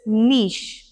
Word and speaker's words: niche: इसको हम कह देते हैं श, so it's niche।